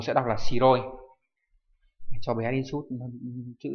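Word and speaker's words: 白い: 1 sẽ đọc là shiroi.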